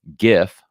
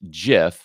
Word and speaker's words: GIF: this one which says it's pronounced gif with a hard g like gift or you might select this one which i believe to be the wrong one which says it's select it's pronounced jiff with a soft g